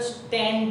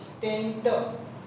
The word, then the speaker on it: stent: but mostly in public there is a stand is pronounced, but it is actually stent therapy, stent.